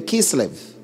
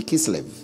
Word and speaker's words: Kislev: the ninth month, even in Kislev, or Kisleo, whichever way you want to pronounce it, but it should be Kislev.